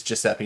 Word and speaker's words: Giuseppe: said although if you it's giuseppe not gessepi i know i'm sorry